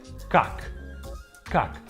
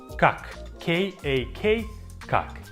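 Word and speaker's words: Как: Once again, I think you can read the first word without any issues. Kak because all three letters sound just like they do in English. K A Kak how are you?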